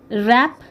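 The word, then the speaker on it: wrap: র্যাপ, ডাব্লিউ আর এ পি, র্যাপ, র্যাপ, দেখো এইটুকুর sound শুধু আমরা পাচ্ছি, ডাব্লিউ সাইলেন্ট।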